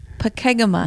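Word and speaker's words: Pokegama: Pakegama.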